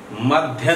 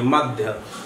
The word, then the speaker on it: मद्य: मध्य नहीं पढ़ेंगे, मध्य। विद्यालय कह देते हैं, गलत उच्चारण है, विद्यालय। कल भी बताया था, आज फिर देख लीजिए। हम इसको इस तरह से भी लिख सकते हैं, मध्य। इसका उच्चारण क्या होगा? मध्य, आधा द और यह मध्य।